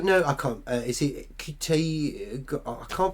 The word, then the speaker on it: Ncuti: Is it Ncuti? I can't pronounce his name. The new guy's doing it. I believe I may be wrong. The N is silent.